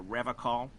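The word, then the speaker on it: Revachol: to stay strong for revocal in cases near gazes he pronounces with a hard K among other people with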